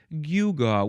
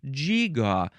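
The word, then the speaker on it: gewgaw: I call it a guga. What do you call it? Well, I call it a giggaw. And number three person over there says I call it a gigaw.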